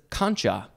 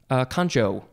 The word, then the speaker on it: concha: Next is the second form of this same word, but instead of pronouncing it conca, it is concha. Concha, like the way it's spelled. Could also be concho.